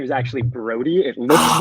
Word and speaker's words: Braude: so i'm used to it but it is pronounced brody although it's felt bro i appreciate you correcting